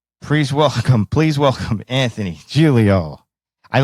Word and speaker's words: Giglio: of Jack and Jill Julio and Italian it's two syllables but in uh American we I'll give you three Julia it's easier please welcome please welcome Anthony Julio I like the proper